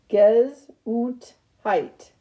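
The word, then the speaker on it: Gesundheit: which is prop pronounced guess height it is the german word that wishes someone good health after sneezing kazoo tight so you could surprise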